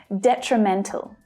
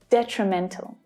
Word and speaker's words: detrimental: So looking at this word, it's the 3rd syllable that is the strongest. And just like exponential, the first syllable also has a secondary stress. So we can hear that one clearly as well, which means that the other 2 reduce. Detrimental.